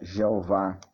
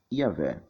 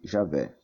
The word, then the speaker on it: Javé: Entretanto, aos poucos esse nome vem sendo substituído pela forma Iavé ou Javé, que é a pronúncia mais próxima do original.